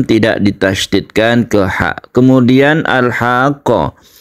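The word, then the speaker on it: الحاقة: ditasditkan ke ha kemudian alhaqqo Ha ini panjangnya tiga Alif dia disertai dengan tasdid kita panjangkan dulu baru kita tasydidkan ini yang disebut dengan mad lazim muthawal atau mad lazim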